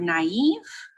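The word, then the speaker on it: naïve: chloe in the word naive right the a sounds kind of like an eye thank you etymology the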